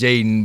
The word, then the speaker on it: Jadon: your teammates say Jadon is that how you pronounce your name Jason now it's pronounced Jaden but I have it's three teammates named Jayden on my team last year so that's why it got changed to Jadon it was cool with